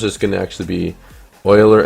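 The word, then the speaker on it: Euler: going to actually be Oiler angles or uler angles however you want to pronounce it I'm actually going to how to pronounce Oiler or uler Oiler yeah Oiler Oiler all right uh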